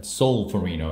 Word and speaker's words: Solferino: at a solar furry know that the correct pronunciation solar thorine oh I keep putting an A in there at Solferino 1850 knives from battles magazine a little game